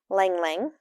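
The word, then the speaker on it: ylang-ylang: Lang Lang. I think that's how you say it. The Y is silent.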